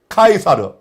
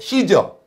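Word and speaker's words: Caesar: 아 본래 그 정식 명칭은 율리우스 카이사르, 라틴어로 카이사르, 영어로 시저 그리고이 카이사르의 한글씩 발음이 가이사입니다. 자, 로마 황제 가이사는 버가모의 아탈로스 왕조로부터 바벨론 시스템을 그대로 받아들였습니다.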